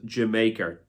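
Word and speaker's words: D'yer Mak'er: Dire Maker, or as a lot of people thought was Jamaica. I think that's the way a lot of people pronounce it.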